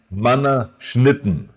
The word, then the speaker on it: Mannerschnitten: Okay, can you pronounce again? Mannerschnitten. Yeah. Mannerschnitten, which means wafers.